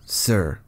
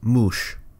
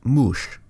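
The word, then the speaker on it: muš: Sumerian word for snake is not Sir, it's Mush. Now, we used to believe it was pronounced Sir back in the old days, but we have since discovered that that was wrong, and it's pronounced Mush.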